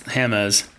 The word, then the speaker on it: Hammes: that but you have now you guys can't pronounce my last name it's hamz I did have to ask him the proper pronunciation it is hamz right not hams it's hamus hamus yeah and see I don't